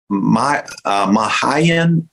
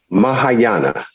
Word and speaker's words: Mahayana: So, so you said you studied Mahayan, or I don't even know how to say these words. Mahayana.